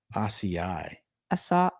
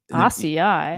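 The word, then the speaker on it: açaí: It just that's acai. not right. Do you know how to say acai? Acai. What? Acai.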